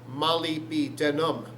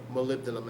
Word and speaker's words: molybdenum: So we say it molybdenum. M-O-L-Y, Molly. Sometimes Molly spelled with two L's, I know. Molly, M-O-L-Y, B, the letter B, denum, D-E-N-U-M, molybdenum, or molybdenum, as it should be said.